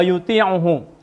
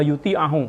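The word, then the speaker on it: ويطيعه: La yastahiqu ayya'budahu dzalikal ba'd wa yuti'uhu, la yastahiqu ayyuti'ahu. Maaf, bacanya bukan yuti'u tapi wa yuti'ahu karena wawunya wawu ataf.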